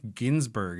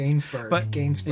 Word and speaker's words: Gainsbourg: And he's I guess Ginsberg is sort of how it's pronounced. Gainsberg.